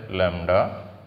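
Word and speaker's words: lambda: এটা উচ্চারণ হচ্ছে ল্যামডা।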